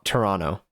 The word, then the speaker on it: Toronto: It's reminded me of the time that I learned how to pronounce Toronto to Toronto properly. Well, now I don't know. Now I'm second guessing myself, but I learned not to annunciate the second T.